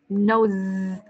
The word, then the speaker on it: nose: Rồi, con đọc là nose. Ok, con nhìn câu miệng cô nha, cái âm S phía sau nha. Nose. Con cắn hai răng lại với nhau và con đẩy phía ra.